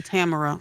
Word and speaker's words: Tamara: call me Tam okay cuz just pronounce Tamara Tam I should have known that from the last time like a tambourine Tamara I'm GNA get it